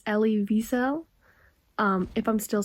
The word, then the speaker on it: Elie Wiesel: to point out that I just searched up the pronunciation for his name. So I do believe it's Elie Wiesel.